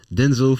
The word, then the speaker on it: Denzel: woman work with him Denzel for sure because that's the real name Denzel not Denzel uh oh yeah Elon